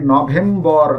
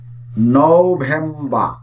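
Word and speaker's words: November: আমরা এই নভেম্বর যে মাসটি, এটির উচ্চারণ করে থাকি নভেম্বর, কিন্তু এটি আসলে নভেম্বর না, এটির সঠিক উচ্চারণ বা স্ট্যান্ডার্ড উচ্চারণ হচ্ছে নভেম্বর, নভেম্বর।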